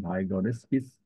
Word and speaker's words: Vygotsky's: So this approach, this cooperative language teaching is based on Vygotsky's sociocultural. The pronunciation is Vygotsky's sociocultural theory, which posits that social interaction plays a crucial role in language development.